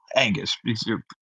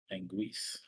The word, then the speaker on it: Anguis: Uh Angus. The the Angu. Excuse me. Not Angus scripture. My bad. Uh Anguis is spelled like Angus with an I. Anguis.